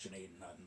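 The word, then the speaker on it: Gnadenhutten: Um now I I should mention the town is called Janaden Hutton uh pronounced Janaden Hutton by the locals today.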